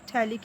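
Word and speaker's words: phthalic: Carboxylic acid या फिर थैलिक acid बोलते हैं। ठीक है, इसका जो पी होता है वो साइलेंट होता है, जिसको आप थैलिक एसिड बोलते हैं।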